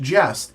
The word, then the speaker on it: Gest: It is pronounced jest, which is a daring story of adventure, i.e.